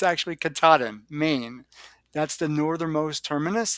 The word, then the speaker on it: Katahdin: It's Katahdin, or no, it's not. It's Katahdin, because I always say Katahdin, and it's actually Katahdin, Maine.